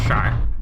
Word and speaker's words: Char: Not Charcoal, because my name is pronounced Char.